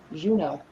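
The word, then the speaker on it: Juneau: So it is how do you say that? Juno. Juno. Juno Alaska. Kind of like the planet Juno or the Ketchacan is one.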